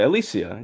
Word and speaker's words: Alycia: Okay, Alycia. Yeah, that's how you say it.